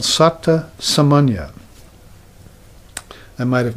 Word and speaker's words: Satta Samanya: there's this experience called Satta Samanya. I might have mispronounced that before. I might have said Satya Samanya, which means Satya means truth, but Satta Samanya, if I mispronounce it, is the correct way.